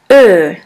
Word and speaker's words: Ö: The second Umlaut is Ö, or O Umlaut. Ö is pronounced like the word flirt or the word girl.